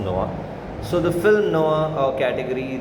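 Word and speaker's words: noir: school of film Noah n o i r Neuer but pronounce Noah so the film Noah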